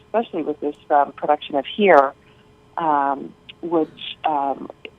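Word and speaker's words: hir: Well, so Here, H-I-R, pronounced Here, is actually...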